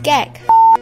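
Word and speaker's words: gấc: This is gag. Whoops. It's pronounced as...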